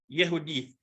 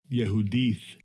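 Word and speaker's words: יְהוּדִית: the hebrew script and it is pronounced yehudi strong's h 3066 yehudith yehudith and it occurs six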